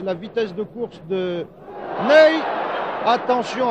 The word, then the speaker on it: Ney: Cela s'écrit comme notre maréchal, Ney, mais ça se prononce Ney, Ney, que voici sur votre